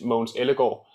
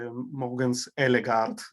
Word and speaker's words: Mogens Ellegaard: Or I should say it in Danish, Mogens Ellegaard. So that's useful because I always had Mogens Ellegaard, so like pronouncing all of the letters. I know, but this the guard is actually just go, so it's a bit boring.